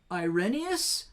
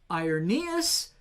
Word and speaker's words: Irenaeus: later a guy named irenaeus ironeous it's pronounced a number of different ways however he pronounced it